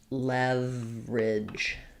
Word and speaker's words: leverage: So rather than, you can say it as leverage, but often we just reduce this down to just leverage.